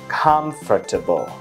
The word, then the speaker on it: comfortable: từ điển phải là comfortable. Đó, nhưng mà trong văn nói người ta đọc là comfortable, chỉ có 3 âm thôi.